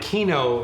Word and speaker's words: Kyno: a like gotcha well I was calling it key no forever and then I think I heard possible you in an interview pronounced it kind of but I kind of like personally key no but you know whatever